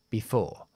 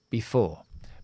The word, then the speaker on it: before: cathedral before the cathedral Recuerda que esta palabra before se acentúa en la segunda sía y al ser así la primera se queda como una I cuando acentuamos en la segunda sílaba y hay una consonante más e cambiamos a i before before before est